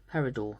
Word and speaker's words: peridot: Then we've got August peridot, not dot peridot. Apparently, Mrs. B corrected me, told me off saying it wrong.